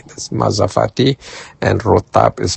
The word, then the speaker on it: rotab: which are very similar to another date called rotab. Mazafati is spelled m a z a f a t i. That's mazafati. And rotab is spelled r o t a b.